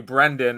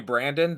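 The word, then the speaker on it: Brendan: it's pro wrestling because it's actually brandan and if I if I'm annoyed on the day and you call me Brandon that is definitely not the way that it's pronounce but you can call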